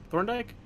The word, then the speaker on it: Thorndike: Thorndike?